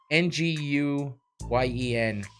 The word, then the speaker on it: Nguyen: Nguyen. That's how you, and it's pronounced when.